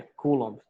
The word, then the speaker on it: Coulomb: carga elétrica é o Coulomb. Se escreve assim, né? Coulomb, mas é Coulomb.